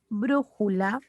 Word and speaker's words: brújula: Por ejemplo, brújula. Bru suena más.